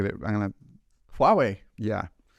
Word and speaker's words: Huawei: move on to uh can you can you pronounce that for me because I'm going to get it I'm going to Huawei yeah Huawei it's the the the Chinese phone that everyone's